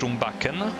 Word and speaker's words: Rumbakken: learned that it's yes rumbakken so the g is like in django untrained you know the the